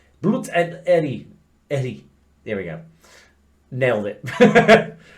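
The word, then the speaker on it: Ehre: Blut und how do you pronounce that? Like Blut and Eri.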